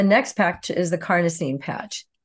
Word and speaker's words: carnosine: next pack is the carnosine patch carnosine rhymes with carne carne is the root